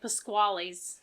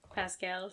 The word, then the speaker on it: Pasquale: to be like but like proper Italian pronunciation yeah like Pasquales pasquali not Pascal pascals it's Pasqual I